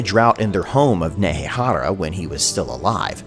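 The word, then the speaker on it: Nehekhara: in their home of nehara when he was still alive and that's nehehara with a silent k you'll continue to not hear cetra sacrificed his own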